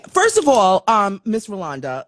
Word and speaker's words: Rolonda: and by the way it's not you but Rolanda has a o in the middle r-o-l-o-n-d-a it's Rolanda not Roland so who where